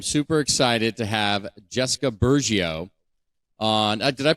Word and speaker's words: Burgio: episode today I'm super excited to have Jessica burgio on did I pronounce the last name correct you sure did